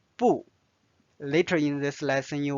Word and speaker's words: 不: Notice I read as 不.